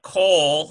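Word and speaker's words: כל: see it like this, K-O-L, meaning all becomes, it's still coal, but notice that it looks like a kametz, but it's a kametz hatuf, which is an O sound.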